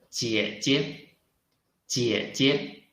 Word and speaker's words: 姐姐: 妈，妈，妈，妈妈 It means mother, mom, 妈妈 The last one, 声母 initial is 鸡，鸡，韵母 is 耶，耶 And let's look at this tone. 声调 Which tone? It should be the third tone, right?